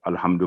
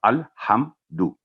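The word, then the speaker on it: الحمد: यहाँ लाम पर जब भी कुरान करीम में जज़म होगी कहीं भी अरबी में, तो उसको लंबा नहीं करना, उस पर स्टे नहीं करना, अल नहीं होगा। और ना ही मीम साकिन यहाँ पर अल्हम्दु में भी आवाज़ लंबी होगी, 1 सेकंड इजहार का रूल होगा। अल्हम्दु, दू की आवाज़ भी लंबी नहीं करेंगे, अल्हम्दु। तो ये है इसका सही तलफ़्फ़ुज़।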